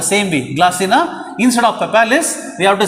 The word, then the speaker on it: palpalis: Okay, see the spelling, palpalis, but we have to pronounce it as papalis.